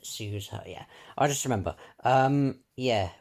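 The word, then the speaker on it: Suzuha: Suzaha. That's how you pronounce it. Suzaha.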